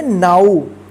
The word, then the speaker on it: now: NOW, इसको क्या पढ़ेंगे नाउ, ठीक है।